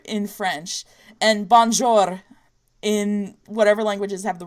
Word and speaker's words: bonjour: english pronunciation but anyway here's the difference between bong bong jewel in French English and whatever languages have rolling r's its bum jewel in English Bonjour I mean in french bonjour in French and Bonjour